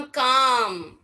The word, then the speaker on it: calm: तो एल को प्रोनाउंस ही नहीं करते।